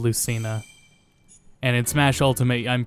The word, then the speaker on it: Lucina: Her name is pronounced Lucina instead of Lucina.